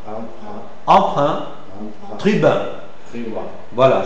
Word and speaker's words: emprunt: Commun commun commun commun emprunt emprunt emprunt emprunt tribin. Tribin. Voilà. C'est un peu difficile mais bon, on peut toujours essayer et vous devez penser toujours à à arrondir les lèvres.